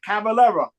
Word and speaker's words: Cavalera: I'm sorry, Cavalera.